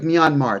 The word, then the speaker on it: Myanmar: don't know this the the country of myanmar it's pronounced myanmar formerly burma they the buddhists